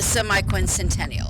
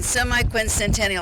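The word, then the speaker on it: semiquincentennial: pretty easy to too e very easy to pronounce but it's really the semi Quin Centennial yes so that's hard to but we all need to start practicing semi Quin Centennial I promised Rosemary back at the office that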